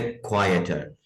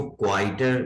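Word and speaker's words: quieter: आगे है क्वाइटर और नॉइजियर। ये जो लफ्ज है इसको क्वाइटर नहीं पढ़ना, क्वाइटर, क्वाइट, जिसका एडजेक्टिव है वो है क्वाइट।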